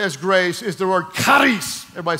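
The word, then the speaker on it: χάρις: grace is the word karis everybody say christ you got to say it like you're hacking a loogie it's trust me that's the way you say okay the word karis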